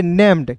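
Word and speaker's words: named: तो इसे पढ़ेंगे नेम्ड।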